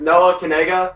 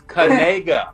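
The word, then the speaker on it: Nacua: the last name oh so this how you pronunciate it it's Noah kega you say uh kega like that see that's the key it's kga there you go there you go now we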